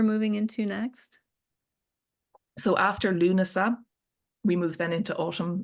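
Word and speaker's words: Lúnasa: curious where because gosh, how far along are we in Lunasa?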